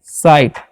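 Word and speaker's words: sight: ऐसा जीएसटी है तो इसे हम लोग पढ़ेंगे साइट ठीक है ये साइलेंट होता है साइड मतलब क्या होता है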